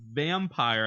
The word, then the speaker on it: Vampyr: A game called Vampire, I'm assuming that's how you pronounce it. It's spelled Vampyr, is being created by